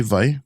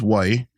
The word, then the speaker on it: wai: try that with me v v yeah and then you see we use that V sound for that but you can also use why with the w but mostly what I hear is V and Havi you know